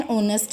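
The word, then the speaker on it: honest: अब हमने आगे आगे फार्मर के बारे में लिखा है तो it will be change into the farmer was एन ऑनेस्ट मैन, एन H silent है सो हमने एन का यूज़ किया है।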